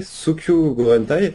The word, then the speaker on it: Sōkyū Gurentai: Donc je vais essayer de le prononcer, Sukyu Gorentai. Alors faut pas m'en vouloir, je ne parle pas japonais, c'est comme ça que j'ai cru comprendre que le jeu se prononçait.